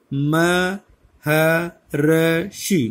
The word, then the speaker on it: महर्षि: महर्षि, महर्षि ऐसे बोला जाएगा। ये र लगता तो इसके साथ है, लेकिन इससे पहले उच्चारण होगा इसका।